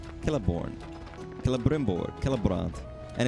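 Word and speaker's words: Celeborn: So, Lord of the Rings, they have things like Kelliborn, Kellimborg, Kellbront, and it's all C E L, but it's pronounced like a K and it it like with me.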